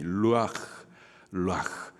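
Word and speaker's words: רוּחַ: 바로 그 생기가 여기에 바라는 생입니다이 생기의 히브리식 발음이 루 그 뜻은 생기 또 바람 그리고 호흡 그리고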